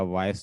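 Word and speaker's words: voice: और क्या हम ई को ट्रांसक्राइब करेंगे, नहीं करेंगे, क्योंकि ई जब भी आखिर में आता है वो हमेशा साइलेंट होता है, मैंने पहले भी आपको बताया। तो यहाँ पे मैं सिर्फ स साउंड लिखूंगा, स।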